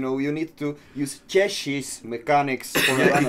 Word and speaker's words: Cieshi: correctly pronounced Cieshi. Cieshi.